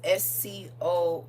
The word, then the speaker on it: SCOX: Another form of his name is SCOX, like socks. Like white socks, red socks, but it's spelled SCOX.